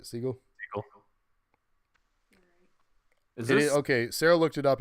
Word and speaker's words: Segel: caddy look so yo Jason Segel or Segal how do you say it Segal okay Sarah looked it